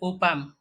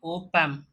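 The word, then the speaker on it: op-amp: अगला पॉइंट है transistors, ICs that is integrated circuits, operational amplifiers उसका शॉर्ट फॉर्म है ओपैम। हमें ऐसा ही प्रोनाउंस करना है इसे ओपैम।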